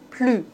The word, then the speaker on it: plus: Dans ce cas-là, on ne doit pas prononcer le S. Ne plus.